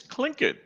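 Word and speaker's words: Tlingit: words linglet or ling jet how do you pronounce that it's it's clink it your first one was very close i'm surprised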